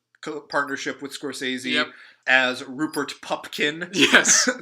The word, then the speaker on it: Pupkin: with Scorsese as Rupert Pupkin yeah the often mispronounced war yes or Rupert pumpkin or pickin or Popkin or whatever Hopkins and another possibly another